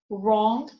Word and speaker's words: wrong: It is not pronounced when it is followed by R, as in wrist, right, wrong, and Greenwich and Norwich.